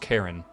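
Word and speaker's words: Charon: And then where's Pluto and Karin, which apparently is pronounced Karen.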